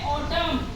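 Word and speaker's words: autumn: होता है ठीक है एम के बाद जो एन आएगा वो साइलेंट काउंट होगा जैसे एग्जांपल है ऑटम ऑटम इसको हम बोलेंगे ऑटम ऑटम ऑटम बोला है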